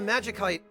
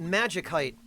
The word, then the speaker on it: Magicite: wingless uh but decoy my reasoning behind pronouncing it Magik heite is that if you follow the English Convention of pronouncing the C as an S when it's followed by a vowel it ceases to make sense as far as the pronunciation of magic is concerned um like if you